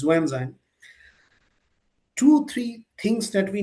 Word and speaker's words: Xuanzang: And since you have mentioned Xuanzang, Huensang, who's now we call it and pronounce it as Xuanzang, two, three things that we need to be cautious about, right?